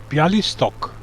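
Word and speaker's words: Białystok: new uh you mean bialy stock yep yup that's easy just pronounce it as it is written i call it pielo stock yes okay it's still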